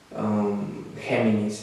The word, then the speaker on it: Géminis: Géminis is how they pronounce it here.